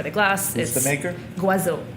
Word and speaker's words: Goisot: The Guazot Bourgogne Blanc. We pour it by the glass. Who's the maker? Guazot. Spell. It's from the Côte d'Azur. Spell it Goisot. Okay. Right? Guazot.